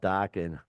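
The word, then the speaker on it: Dokken: Oh no, docking, Rhymes with rocking.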